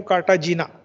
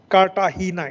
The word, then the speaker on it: Cartagena: how you spell it many of you will spell I know Cartagena it's not katahina it's called as so katahina protocol and